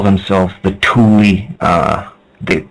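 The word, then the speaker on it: Thule: and the atlantans used to call themselves The Tulie uh the like T hu l e but pronounced t o o l i e that's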